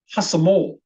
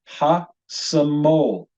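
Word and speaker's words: השמאל: If you try saying that with me, hasamol. Hasamol. Hasamol means the left hand. And unmistakably, we hear in the final syllable, the syllable that gets the stress, the syllable is pronounced mol.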